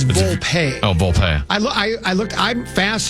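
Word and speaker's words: Volpe: this even funnier he goes in English it's pronounced vulpe so it's the same in it's pronounced the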